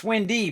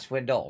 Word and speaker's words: Swindy: That's Swindy, by the way, not Swindle.